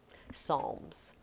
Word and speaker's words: Psalms: Is there another word that starts with a PS, but we don't pronounce the P?